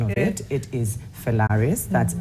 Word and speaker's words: Felaris: So let's start with the pronunciation of it. It is Felaris.